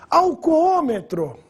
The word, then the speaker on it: alcoômetro: Alcoômetro, olha a divisão. Alcoômetro. Proparoxítona, acento circunflexo no segundo O.